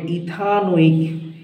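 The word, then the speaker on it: ethanoic: আছে এখানে ভাওয়েল আছে তাহলে এই ই টা কেটে যায় তাহলে উচ্চারণ হবে ইথানোইক মানে ইংলিশে চলে আসবে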